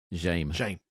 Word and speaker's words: Jaime: How would you pronounce this? Jaime.